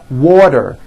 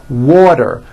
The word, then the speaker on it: water: water is pronounced as water the t turns into a d and the whole word is voiced water i want water bacter